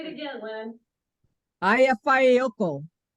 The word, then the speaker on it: Eyjafjallajökull: And you can pronounce the name. Eyjafjallajökull. That's pretty good. So easy to pronounce his. Say it again, Lynn. Eyjafjallajökull. It's not quite right, but it's close. Eyjafjallajökull.